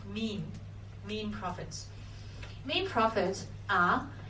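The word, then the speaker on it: mesne: 20 000 to l now mean profit is pronounced mean mean profits main profits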